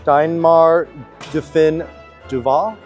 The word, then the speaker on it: Deinmaar Do Fin Dovah: about Lily's build I don't know if I'm pronouncing this right the diar duin Duval yes all right perfect so please just take